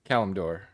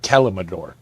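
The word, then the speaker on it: Kalimdor: Calumdor, one of the Warcraft continents. Yeah, I've seen someone who does nothing but make WoW content call it Calumador. Yeah. Adding syllables to it.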